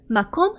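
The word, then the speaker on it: מקום: Now, the next word is easier to pronounce and that is mcom. M. Makom means place.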